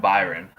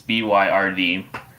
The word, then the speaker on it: Byrd: But Admiral Byron, I think I said his name wrong. It's Byrd.